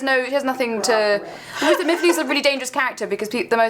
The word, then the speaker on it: Myfanwy: And it is Myfanwy is the correct pronunciation.